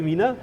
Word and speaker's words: MINA: Talking about innovation, you are the founder of how do you say that? Minor or Mina? Well, I always say it's a good question. I always say Mina, mobile innovation network in association.